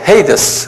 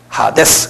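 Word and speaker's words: ᾅδης: 영어로는 헤이데스 그러는데, 그대로 발음대로 하면 하데스예요. 헬라말로는. 하데스.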